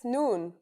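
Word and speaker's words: نون: That's noon. The noon is pronounced just like the English N.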